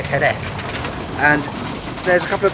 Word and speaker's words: Jerez: And in terms of Jerez, in terms of why I can't pronounce it, is because I'm used to saying it the Spanish way, Jerez.